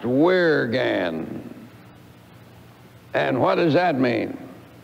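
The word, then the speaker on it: wyrgan: old anglo-saxon word called spelled w-y-r-g-a-n which i would imagine might be pronounced where again and what does that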